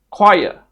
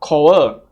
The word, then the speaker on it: choir: The next word is choir. Choir, right? Not cho-wer, cho-wer, right? That's wrong. Choir.